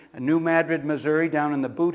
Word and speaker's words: New Madrid: I understand the proper pronunciation. New Madrid, Missouri, down in the boot heel of Missouri.